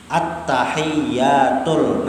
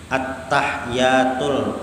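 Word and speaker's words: التحيات: Nah, tasydidnya berapa penting? At-tahiyyatul. Nah, itu bacanya. Jangan membaca kayak ini. At-tahiyyatul. Nah, tertinggal ulangi lagi. At-tahiyyatul. Nah, itu baca.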